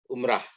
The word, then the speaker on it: Umrah: Umroh. Ya. Yang baku itu pakai A. Ya. Sama dengan salat. Ya. Karena ini ro, ya. Ro dalam bahasa Indonesia jadi ra. Umrah ya.